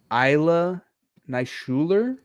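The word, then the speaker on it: Ilya Naishuller: The original film was directed by, I believe it's pronounced Isla Neishuler.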